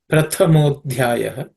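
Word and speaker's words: Prathamādhyāya: Prathamodhyaya. The Pratha, the second letter, Tha, is aspirated because the second consonant in the Tha Varga, or third class of consonants. So it's Tha, Prathamo, Dhyaya.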